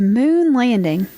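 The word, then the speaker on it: Mhoon Landing: And we're going to Moon Landing. All right. Moon landing. But it's spelled Mhoon. Moon landing.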